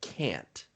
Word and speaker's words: can't: leo you did a good job tonight of pronouncing the t on the end of can't so when many of